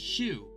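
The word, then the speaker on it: choux: sushi restaurant is pronounced Shu it's a French word that this Japanese word is based on chew pastry interest interesting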